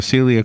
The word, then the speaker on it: Selia: Celia Qynn has already proven to me that she's one of them with her book.